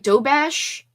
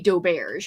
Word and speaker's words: doberge: I say it like do bash, like do bash, d o b a s h, but I also say dobear as well. I say it both ways.